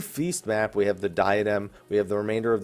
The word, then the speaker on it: diadem: Obviously, the diadem, or the diadem as it's actually pronounced, Proto Ultima, those are cool, but those aren't going to tide me over.